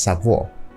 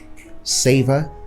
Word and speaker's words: savor: word is savor savor we often pronounced savor as sub war so someone can say I can sell the drink which is wrong you can just say I can savor the drink savor savor and it has the same pronunciation with the word savor the third word is